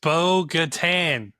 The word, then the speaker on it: Bo-Katan: It is Bo-Katan. Bo-Katan, whatever. You put it in. You make it sound like a beach resort. It's Bo-Katan.